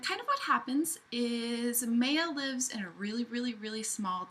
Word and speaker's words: Maya: The main character's name is Maya. Could be pronounced Maya, I'm not really sure, but I'm going to go with Maya because it's M-A-Y-A.